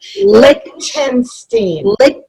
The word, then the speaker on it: Lichtenstein: Lichtenstein? Lick, like lollipop. Lichtenstein.